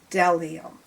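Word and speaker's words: bdellium: You don't say the B, it's delium.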